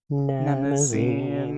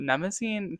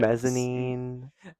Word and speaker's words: Mnemosyne: Yeah, some people say Mnemosyne, and I am not going to fight them on that. I simply didn't choose that pronunciation. Mezzanine, No, Mnemosyne, yeah, no one, no, those are all wrong.